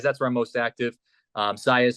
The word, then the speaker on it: Saez: Saez spelled like Javier Baez, but with an S.